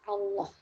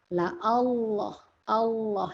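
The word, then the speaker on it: الله: Lam pada lafaz Allah. Lam jalalah dibaca tebal. Lam jalalah itu lam pada lafaz Allah ya. Dibaca tebal ketika di awal kalimat, ketika didahului fathah, dan ketika didahului dhammah.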